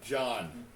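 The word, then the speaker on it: Djhon: Yes, John. John the bartender. Spelled D-J-H-O-N. Dijon. The John. D is silent. There's no Okay.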